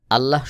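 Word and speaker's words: اللَّهُ: অথবা পেশ থাকবে তখন আল্লাহ শব্দের লামকে মোটা করে উচ্চারণ করতে হবে যেমন এখানে আল্লাহু আল্লাহু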